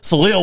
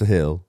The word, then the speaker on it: Salil: I was like, all right, like we're, but Salil, we're reaching here. We're reaching. I mean, one, it's Salil. Like you're still butchering that.